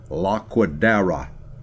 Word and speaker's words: Laquadera: Everyone always mispronounced his last name, and he always corrected them. La, Charles would say in phonetic detail. Laquadera.